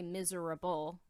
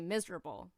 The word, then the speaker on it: miserable: was also weird, because you really don't say miserable the way that it's spelled. You don't say miserable, you say miserable.